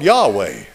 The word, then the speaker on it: Yahweh: And here's how they pronounced that. Yehovah. In English, we say Jehovah. Now, they've come along today and it's all Yahweh.